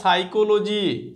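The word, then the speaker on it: psychology: এখানে কিন্তু এটা পি আছে। সাইকোলজি। এইরকমই সেম এটা হচ্ছে নিউমোনিয়া। এ দেখ পি একটা চলে আসবে। এগুলো সাইকোলজি। এটা নিউমোনিয়া। প্রোনাউন্সিয়েশন হবে। কিন্তু নিউমোনিয়া। পিগুলো সাইলেন্ট থাকে।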